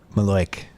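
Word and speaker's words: malocchio: yeah the Italian curse it's spelled malio right uh but the Italians call it Malo I'm half Italian and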